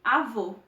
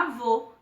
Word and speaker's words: avô: vamos pronunciar essas palavras o acento circunflexo ele indica uma sonoridade fechada nas vogais e o por exemplo você o avô percebam que a pronunciação dessas palavras deu-se de uma maneira fechada a gente percebe nitidamente